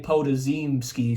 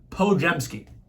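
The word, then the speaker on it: Podziemski: I was about to say Podazimski, so I would have looked like a real idiot. But it's Brandon, I've never seen it spelled with an I, but whatever, Pojemski.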